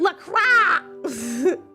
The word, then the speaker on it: LaCroix: It's pronounced LaCroix. It's French. Is it? I'm gonna call it LaCroix because that's how I want to pronounce it.